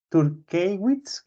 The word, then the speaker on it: Turkewitz: Turkewitz, como se escribe, como se lee.